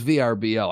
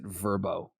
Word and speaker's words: Vrbo: verbo god bless verbo i also thought it was vrbo i never knew they pronounced it verbo i don't know if